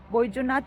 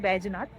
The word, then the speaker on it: Baijnath: আজকের আমাদের শেষ এবং লাস্ট গন্তব্যস্থানটি হচ্ছে বৈদ্যনাথ মন্দির বা ব্যাজনাথ মন্দির। এখানকার যেটা লোকাল ল্যাঙ্গুয়েজে বলে ব্যাজনাথ। বাংলায় প্রোনাউন্সিয়েশন করলে এটা হচ্ছে বৈদ্যনাথ মন্দির।